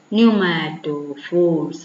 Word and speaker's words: pneumatophores: Pneumatophores. What is that word? He say here Pneumatophores എന്ന് പറഞ്ഞാൽ എന്താണ്? How can we pronounce it?